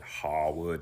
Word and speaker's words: Harewood: of Dramatic Art, David Harewood. I much prefer the pronunciation they use in the movie Downton Abbey when they call it Harwood. It just sounds more sophisticated, but I move on.